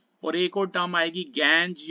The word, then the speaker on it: gangue: और एक और टर्म आएगी गैंज या गैंगू.